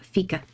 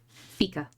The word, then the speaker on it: fika: Is how you pronounce it. Fika. Fika.